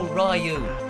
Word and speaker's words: Ryu: I think we control Ryu. That's how you pronounce him.